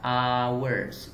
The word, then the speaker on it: hour: orang salah menelannya trek banyak orang bilang however one worth wes dia sebenarnya pronounciationnya pengucapannya adalah hour kata-kata awal atau huruf